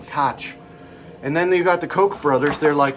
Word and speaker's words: Koch: it was your name koch and then you've got the koch brothers they're like uh political uh superstars of some sort i don't know i think they're like um packer lobbyists they're pronounced coke and then sam cook